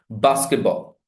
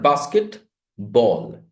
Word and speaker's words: basketball: Basketball. It's not basket, ball. Basketball.